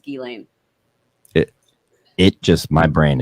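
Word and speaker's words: Ghislaine: elaine elaine yeah and like i was saying jillaine like for the month leading up to it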